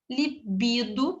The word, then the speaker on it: libido: a pronúncia está errado libido também ela libido a sílaba tônica nube libido está errado ok muita atenção esses